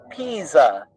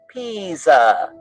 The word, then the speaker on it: Pisa: yeah that is pronounced pisa it is italian so the s is pronounced like a z and the i sounds like e think of a p